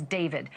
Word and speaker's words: D4vd: For the singer known professionally as David, spelled D4 VD. I know it's strange, but it's pronounced David.